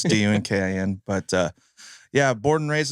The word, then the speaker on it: Dunkin: Yeah, hey, my name's Dunkin. I always spell my last name because I just say it's like the donut because it's spelled different than everybody else. So it's Dunkin.